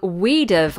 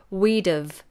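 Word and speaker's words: we'd've: go oh and then the next one is we dove wow this is an interesting contraction this contracts three words we would have we dove we would have we'd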